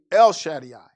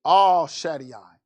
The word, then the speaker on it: El Shaddai: he appeared unto me now we say el shaddai but the first letter of the hebrew alphabet is not el it's all so all shady i is what he appeared